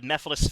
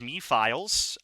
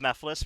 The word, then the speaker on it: Mephiles: we have Mephiles Phase 1, who I pronounced as a kid Me-Files. I was insistent it was Me-Files.